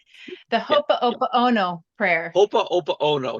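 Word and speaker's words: Hoʻoponopono: Hopa Opa Ono, not Hopa Yoko Ono prayer.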